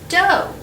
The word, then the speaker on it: dough: word this word is dough o u g h can also be pronounced like o can you find the